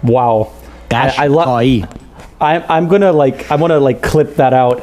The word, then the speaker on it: Ghashghai: So I'll say it the correct Persian way. It is Ghashghai. Wow. Ghashghai.